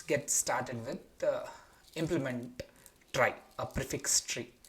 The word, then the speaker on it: trie: So, yeah, without further ado, let's get started with uh implement try, a prefix tree, right? So, as the problem statement goes, a try, pronounced as try, a prefix tree, is a tree data structure